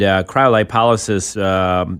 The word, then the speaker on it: cryolipolysis: And it's called, what is it, cryolipolysis?